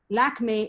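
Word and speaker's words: Lakmé: laugh at this one lakme is the french pronunciation of the goddess lakshmi growing up in india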